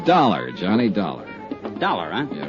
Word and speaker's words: Dollar: Buzz I didn't it's dollar Johnny Dollar dollar huh yeah rhymes with collar I always like to